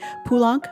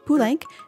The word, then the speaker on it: Poulenc: Normally in French, if you want to go French enunciation conventions, you would say Poulenc, but actually it's pronounced Poulenc because that's the way he and his family pronounced it.